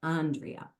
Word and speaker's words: Andrea: And I'm sorry, I just said your name wrong. You like Andrea. Yeah. Right? And that's Chicago. We ride our I vowels. know. It's the nasal A.